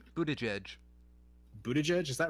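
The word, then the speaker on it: Buttigieg: have guessed that yeah it's mostly the g-i-e-g part isn't it i wouldn't have expected both of the g's to be pronounced j's buddha judge okay um but yeah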